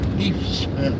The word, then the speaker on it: Deaf Smith: There's a county called, it's spelled Deaf Smith, but they pronounce it Deef Smith.